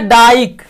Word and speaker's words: dyke: उसी तरह से वाई का जो उच्चारण है इसमें हम लोग आई बोलते हैं, जैसे है डाइक, DYKE।